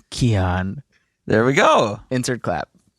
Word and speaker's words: Kyan: Some pronounce it Kyan, some pronounce it Kyan. In high school, the sex ed teacher called me, but it's actually Kyan.